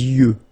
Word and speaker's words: yeux: Les yeux. Okay, final X not pronounced.